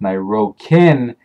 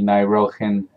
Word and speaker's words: Nairohin: And even though it looks like his name is pronounced Nairokin, the K actually makes an H sound, giving it the Nairohin sound.